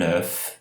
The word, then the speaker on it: œuf: Então, por exemplo, aqui o caso de un œuf, um ovo, o F pronunciado, e vejam, des œufs.